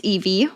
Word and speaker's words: Yvi: So if they haven't seen it before, if I do outreach or whatever, and it's like, no, it's not, it's Evie.